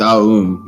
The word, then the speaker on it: Om: If you want the perfect pronunciation, and I learned this like when I saw somebody say Om properly. They said Aum. It's Aum. They said when they said it in speaking voice.